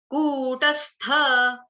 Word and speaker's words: कूटस्थ: हलन्त 'सा', कूटस्थ, कूटस्थ। अब देखिए, मैंने 'था' का उच्चारण पूरी तरह से किया। नहीं कर पाया ' कुत्स्था'।